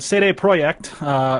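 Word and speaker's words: CD Projekt: yeah I'll just really quickly go over this say a project is how it's pronounced like yeah City project we all know that cyberpunk 2077 is coming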